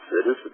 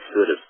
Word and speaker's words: situs: Now, some people do situs. I do what I think is the American way. I just look at it exactly the way it's written, and it says situs to me.